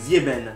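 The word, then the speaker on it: sieben: Quand il y a un S avant une voyelle, eh bien on le prononce Z comme Zieben.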